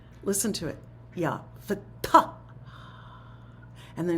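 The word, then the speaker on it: فتاح: So in some languages, this is true in Chinese and Arabic and Persian, there's an aspiration at the end of the word.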